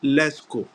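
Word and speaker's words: Lascaux: s c a u x but it is pronounced leco now this Museum when it was discovered uh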